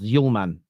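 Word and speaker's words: Hjulmand: The D is silent like Okay, cool. I hear you. Someone says well said. That's well said. It's pronounced Yulman.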